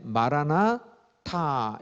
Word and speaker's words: 마라나타: 자, 마라나타는요, 마란아타 이렇게 발음이 되는 경우랑요, 그 다음에 마라나타 이렇게 발음이 되는 경우가 있습니다. 그래서요, 마란아타라고 발음을 하면요, 우리 주님 오셨네 이렇게 되는 거예요.